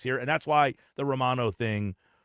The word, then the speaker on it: Romano: But the actual pronunciation is Romano.